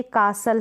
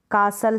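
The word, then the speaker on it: castle: आपको ध्यान रखनी है, एंडिंग STLE से होती है ना किसी स्पेलिंग में, तो वहाँ पर ये जो S है ना, S कैसे पढ़ा जाएगा, जैसे कासल है, कासल है, T यहाँ पर साउंड, T जो है ना यहाँ पर साइलेंट है, S है T से पहले वहाँ पर।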